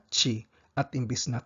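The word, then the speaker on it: ち: Chi. Chi. Tsu. Tsu. Te. Te. To. To. Tandaan po natin na wala silang T at saka tu. Imbis na T ang meron sa kanila chi.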